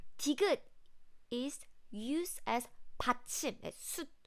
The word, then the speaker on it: 숯: There's no T sound at the end.